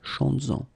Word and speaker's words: chantes-en: Chantes-en, okay, could be chantes-en une, chantes-en. Alright, so keep in mind that you will have to keep this S, z, chantes-en, okay, to have this link between the two.